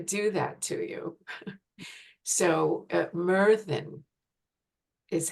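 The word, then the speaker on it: Myrddin: didn't want to do that to you so Merin is how it's pronounced and meran is um the Welsh um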